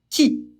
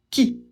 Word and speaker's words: qui: Il se prononce qui. Q et U, ça fait que, parce qu'on ne prononce pas le U, donc on prononce qui.